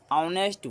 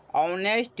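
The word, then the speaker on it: honest: देखिए इसका ऑनेस्ट का पहला लेटर एच आ रहा है, लेकिन इसका उच्चारण एच है, लेकिन इसका उच्चारण ह के समान नहीं है, इसका उच्चारण ओ के समान है।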